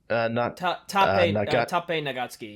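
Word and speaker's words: 長月達平: Taipei Nagatsuki, yeah.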